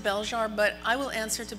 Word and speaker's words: Belzhar: plot summary absolutely um i pronounce it bell jar but i will answer